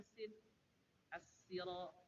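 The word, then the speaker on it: السراط: Jadi bacanya sin as-sira bukan ihdinas sira.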